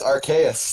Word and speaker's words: Arceus: All I can think of now is a dumbass dorkly bit where somebody captures Arceus, the god of all Pokemon, and immediately names it Fartass. Oh, it's pronounced Arceus.